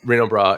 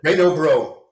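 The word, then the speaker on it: Renaud-Bray: Reno bra. You know, I can't pronounce that as an American. Reno. Reno brain. How do you say how do you say that one? Reno bro.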